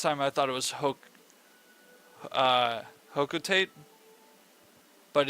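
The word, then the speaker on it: Hocotate: I heard somebody at Nintendo say it in a video, and they said it was Hokotate. So I was like, what, is that how you say it? And it is.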